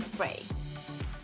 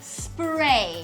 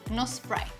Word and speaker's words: spray: And the last steps, the setting spray. This is to set our makeup and Make it last longer. yes. Que dura más. Ojo, se pronuncia spray. Spray. Sí, no spray.